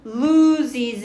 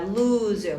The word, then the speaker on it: lose: when 뭐 할 때 your body loses 1% of its water이 돼요. 요거 단어 발음 주의하세요. lose입니다. lose 뭐 하다?